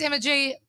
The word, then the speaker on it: Emma G: My name's Emma G. It rhymes with energy.